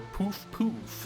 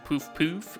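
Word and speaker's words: Puff-Puff: Club Poof Poof, or Poof Poof, as I believe it's supposed to be pronounced, kind of French, but who knows.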